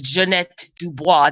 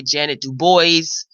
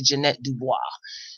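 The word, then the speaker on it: Ja'Net DuBois: home yesterday morning Tuesday and we know miss Jeanette Dubois that is the correct pronunciation some people say Jan Dubois Descartes Janet but it's actually Jeanette Dubois so we know her from good times which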